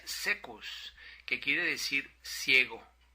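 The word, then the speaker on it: caecus: Esta palabra proviene del latín, donde se escribe saecus con C de Carlos, pero se pronuncia secus, que quiere decir ciego.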